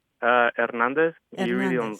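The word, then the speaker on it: Hernández: uh you mentioned your last name are you pronouncing that with an H or not uh ernandez you really don't sound the age uh but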